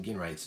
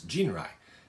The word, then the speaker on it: Ginrai: sorry i keep saying gain rights jin rai uh they they spell it with with a g but it is you know the j sound jin rai sorry uh so the